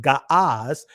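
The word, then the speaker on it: Ge'ez: Century gez which actually the ancient Gees is actually pronounced gas had not made use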